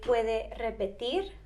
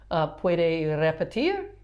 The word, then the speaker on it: puede repetir: You can say puede repetir. That's got that R. Puede repetir.